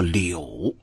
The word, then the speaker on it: 一: 第一乡里的一字，这个数字在春典里得读作柳。1、2、3、4、5，柳月汪载中，6、7、8、9、10，身形长爱惧。